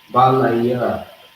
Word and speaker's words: Balaya: We have the ba by itself, the la by itself, the ya by itself, the la and the ha is connected. Balaya. All right? Balaya is how you say that.